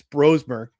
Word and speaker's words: Brosmer: Coming into this game, we saw that the Vikings, Kevin O'Connell, Vikings coach, said that the Vikings would be starting Max Brosmer.